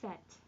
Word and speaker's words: faite: Normally this would be fait in the past participle, right? You saw that. Laurence a fait la vaisselle, but with that E on there, that T pronounces. Benoît ne l'a pas faite. So we hear that agreement. We know it's there because we heard that T being pronounced.